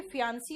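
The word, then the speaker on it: fiancée: यहां पे फियांसी और फियांस बोलते हैं, बाकी ई का कहीं भी प्रोनाउंसिएशन नहीं आता, ठीक है।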